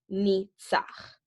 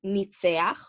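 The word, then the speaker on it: ניצח: So the way that we pronounce the root, there are two options of pronouncing it. There's I-A-A or there's I-A, okay? You will hear both and they are both correct.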